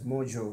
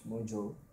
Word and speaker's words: MoJo: it's it's pronounced as Mojo move and join combined together so it's Mojo So what it does